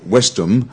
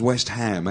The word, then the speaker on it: West Ham: football clubs in England so these two words are separated so it's not wisdom it becomes West Ham West Ham yeah or vice you